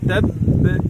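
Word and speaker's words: تبّ: আর তাব্বাত ইয়াদা আবি লাহাবিন ওয়া তাব, এভাবে বলবো তাব, যেন দুটি বা শুনতে পাওয়া যায়।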